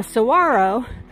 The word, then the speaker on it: saguaro: Now saguaro is spelled like it should be pronounced saguaro, but after numerous visits to Saguaro National Park, I have been set right about the pronunciation of this magnificent beast.